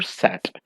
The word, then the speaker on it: sate: Sat means old fashioned spelling for sat. SATE, but it is still pronounced as sat.